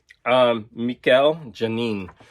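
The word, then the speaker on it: Mikel Janín: The best thing by far about this is the art by Mikel Janin. That's how you pronounce it.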